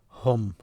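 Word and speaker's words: هم: You pronounce them hum.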